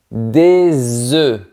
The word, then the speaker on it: œufs: Un Mais attention, au pluriel c'est différent. On dit des œufs. Le son est plus fermé et on ne prononce pas les deux lettres finales. Des œufs. Si tu veux faire du